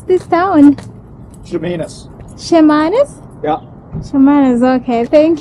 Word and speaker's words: Chemainus: town of uh Chas Chas how do you pronounce this town shanus shanus yeah shanus okay thank you you're welcome